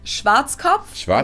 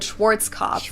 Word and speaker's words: Schwarzkopf: over the world pretty much in german we pronounce it schwarzkopf which literally means blackhead schwarzkopf english native speakers usually pronounce it schwarzkopf or schwartz cough or something along those lines yeah i've never